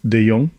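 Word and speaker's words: de Jong: name is deong my name is continuously spelled badly but yeah it's pronounced deong so I'm an ex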